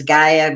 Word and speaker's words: Gaia: Okay, I have someone had mentioned something about check your email, Gail, at Gail of Gaia, as Drake says it, but it's Gaia because it's spelled Gaia.